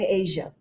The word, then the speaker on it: Asha: So, um it's actually pronounced Asia, not like the continent.